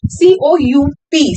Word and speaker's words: coup: Then you have coup, C-O-U-P, C-O-U-P. The pronunciation is coup, or you can also call it coup d'état, D-E-T-A-T.